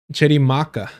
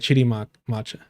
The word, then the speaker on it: Chirimaka: Because I know like Chirimaka, right? Whereas before I would say like Chirimacha.